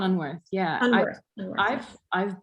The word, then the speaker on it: Unwerth: And I know that you work with Ellen von Ulwerth, right? Is that how to say her name? Yeah, Ellen von Unwerth.